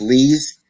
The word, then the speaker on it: Lies: It's actually pronounced Lees, and it says Assistant Public Defender.